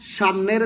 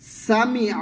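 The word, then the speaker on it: سمع: সামি আল্লাহু সামি মিম আইন আইন লামকে ধরবে। আল্লাহ লাম পুর করে বলতে হবে।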